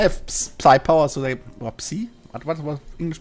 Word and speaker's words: psi: We just they have psi power, so they psi. What was English pronunciation again? Of what? Psi, whatever. Psi Psi. Okay, it's psi. is without the P. The P is silent.